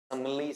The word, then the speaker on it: simile: अगर आप वहां पर सिमिली को पढ़ते हैं, तो सबसे पहले जो वर्ड है उसका उच्चारण आपको पता होना चाहिए, सिमिली। समली, सीमली, स्माइल ऐसा नहीं बोलेंगे, सिमिली बोलेंगे।